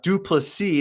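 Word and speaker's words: Du Plessis: Tick Tock fans uh duplicity that's the correct way to pronounce it part of the South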